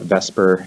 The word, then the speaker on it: VSEPR: arranged in 3d space using the Vesper model I know it's it's spelled VSEPR VESA / if you call it Vesper no one's going to know the difference it just rolls off the tongue a little bit easier that's why we've refer